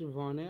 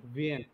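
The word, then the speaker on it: Wien: শয়ের মতো উচ্চারণ হবে, লাইপসিশ। হ্যাঁ, এটা কি হবে? লিন্স। লিন্স। এটা পেইন। ভিয়েন। না, লাস্টে ই ই না, তাহলে ভিন, ভিন।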